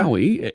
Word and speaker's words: MAUI: And is it Maui? Is that how you pronounce it? Or am I pronouncing it? That's right. Yes. So just like the island, right? Okay. Maui, MAUI, right?